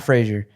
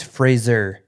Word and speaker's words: Fraser: phrase actually it's not Frasier don't that's not how you pronounce his name it's Fraser it's literally Fraser like yeah like Razer like a laser like a frayed laser